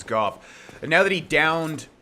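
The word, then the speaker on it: Gough: I await good tidings. Ah, dragon slaying. Knighthood's highest calling. Okay, so now that Goff, I thought it was always go, but he pronounced his name as Goff.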